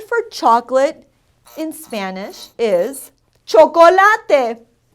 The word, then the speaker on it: chocolate: The word for chocolate in Spanish is chocolate. It's spelled the same, but we pronounce all the letters in the word.